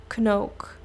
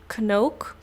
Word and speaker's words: Knook: So that's the way like how I pronounce it in the Netherlands, which is so different. But I know a lot of people in the United States or maybe different countries as well, they actually can't really pronounce the K the way that we do it in the Netherlands, which is Knook.